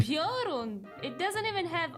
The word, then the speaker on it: Piorun: I'm sorry, Piorun is not a complicated word. Okay, I'm gonna put my foot down. There's no way you should be just twisting the word into a prion.